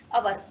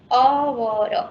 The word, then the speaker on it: hour: અવર. HOUR. HOUR. H silent છે. Still, what is this pronunciation of it? અવર.